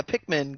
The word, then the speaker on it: Pikmin: easily do a pink, how do you pronounce it? Pikmin? Yeah, Pikmin game on there.